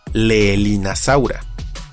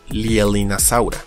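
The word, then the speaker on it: Leaellynasaura: podríamos pensar que se pronuncia Leelinasaura, pero no es el caso, pues el diptongo EA no es latino, sino inglés, así como también la doble L, ya que deriva del nombre propio, que se pronuncia Lielin, así que queda como Lielinasaura.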